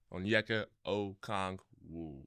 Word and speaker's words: Onyeka Okongwu: I ain't want to be in here on Onyeka Okongwu. Did I say it right? Onyeka Okongwu. Okongwu. There we go.